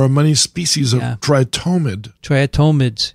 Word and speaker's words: triatomid: many species of tritomide triatomides is that how you say it yeah not triatymid not triathlete atonement try it thomas these